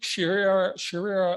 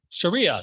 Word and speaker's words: Sharia: Islamic sharira let's try it again she how do you pronounce that Sharia thank you very much law was suspended by